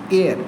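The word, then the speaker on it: heir: एच ई आई आर एयर इसका मतलब होता है वारिस। क्या स्पेलिंग है? एच ई आई आर एयर इसका मतलब होता है वारिस। इससे पहले भी एन आएगा क्योंकि इसका भी एच साइलेंट है।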